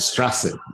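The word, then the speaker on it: Straße: B, and somebody said it's pronounced like a double S. Yes, it's kind of that is a Strasse, and have this letter on it's equivalent to double S.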